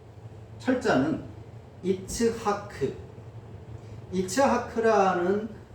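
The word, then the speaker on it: יִצְחָק: 보통 이삭이라는 그 철자는 이츠하크 이츠 하크라는 발음으로 어 기록된 그 철자 이츠하크.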